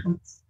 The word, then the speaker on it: HOTS: Yang harus saya garis bawahi, tolong membacanya jangan sampai hilang S-nya ya. Karena kalau hilang S-nya maknanya akan berubah. Jadi tetap harus dipanggilnya HOTS.